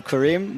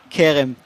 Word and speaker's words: Kerem: We almost switched her name to, instead of Ayala, Kerem, Yeah. to Karim. But, I mean, Kerem, that's the right pronunciation.